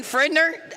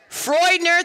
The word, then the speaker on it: Freudner: Fridner. Okay, stop for a second. Have I pronounced that name wrong the whole entire season? Freudner, thank you.